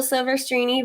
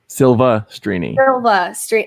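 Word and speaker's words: Silvestrini: 2, and then Rachel Silverstrini versus John Roca. Silva Strini. I know that. Did I say Silver?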